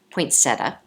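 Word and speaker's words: poinsettia: Poinsetta.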